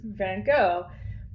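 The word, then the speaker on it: Van Gogh: the Netherlands by um how hard they pronounce the G so in America we just like G that it's gone right van go but uh in the Netherlands is like van I can't do it but um the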